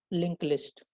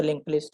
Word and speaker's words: linked list: It is spelled as linked, but in pronunciation it is called as link only.